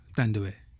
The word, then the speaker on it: Thandiwe: Thandiwe. Right? I like the way you said I know. I like his way better. Cool, say it one more time. Thandiwe. Thandiwe. Wow. Yeah. I've been saying Thandiwe.